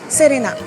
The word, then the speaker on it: Serena: très facile parce que la seule différence visuelle audible avec le français c'est le R qui pour rappel n'est pas du R mais plutôt du entre l r d donc Serena Serena un peu plus